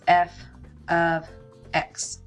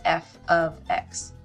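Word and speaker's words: f(x): Again, this is called, you pronounce this f of x. Function notation, f of x.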